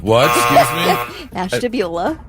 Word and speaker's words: Ashtabula: Tubula. What? Excuse me? Ashtabula. Ashtabula.